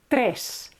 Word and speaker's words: tres: Number 3 is tres. Okay, this is not ch, tres. Okay, be careful, don't say ch here, it's tres.